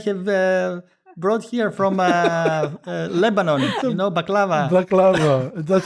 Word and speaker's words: baklava: Black Angel, yeah, it's just sweets that I have brought here from Lebanon, baklava. Baklava. That's how you pronounce it.